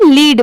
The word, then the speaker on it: led: अब जैसे देखिए LEAD, अगर कहीं पर ये लिखा रहा तभी इसे हम लीड पढ़ेंगे. ठीक है, यहाँ पर इसे हम लीड नहीं पढ़ेंगे, इसकी प्रोनाउंसिएशन है लैड, और जहाँ पर LEA की साउंड आएगी वहाँ पर इसको क्या प्रोनाउंस करेंगे?